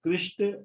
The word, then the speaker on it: कृष्ण: तो फिर प्रभुपाद जी कहते हैं yes Christ is another way of saying कृष्ण एंड कृष्ण is another way of pronouncing कृष्ण।